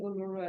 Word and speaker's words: Uluru: And And so you're pronouncing Uluru, Ulu? Uluru.